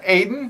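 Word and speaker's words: Aodhán: that yeah what was the first one uh aidan aiden a-o-d-a-n yeah that is it a-o-d-h-a-n with the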